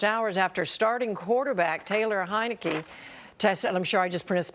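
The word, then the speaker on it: Heinicke: That announcement came just hours after starting quarterback Taylor Heineke tested, I'm sure I just mispronounced his name.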